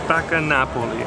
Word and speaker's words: Spaccanapoli: Spaccanapoli.